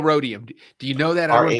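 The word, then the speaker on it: rhodium: so hard words like rodium rodium I would just say it in Spanish and ex there's an h and that's the only thing I to remember and then it sounds it's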